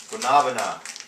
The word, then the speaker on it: Guanabana: for the one of the newest handy flavors gabana yes that's how it's pronounced uh it took me for a spin